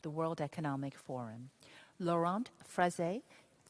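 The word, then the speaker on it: Freixe: Laurent Frezé, he told me the X is pronounced, and I've somehow still managed to go my version of French.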